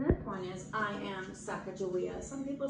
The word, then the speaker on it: Sacagawea: You can break it into syllables. Watch. Sacagawea. Five syllables. Anytime you drop your jaw, it's a new syllable. Plus, it's fun. What is it? Sacagawea.